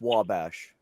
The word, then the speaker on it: Wabash: It's pronounced Wabash.